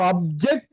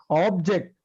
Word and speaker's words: object: syllable and it means so object is different from object when the case is on the first level it is a noun or adjective if the sense is on the second syllable that is a verb and the meaning changes yes foreign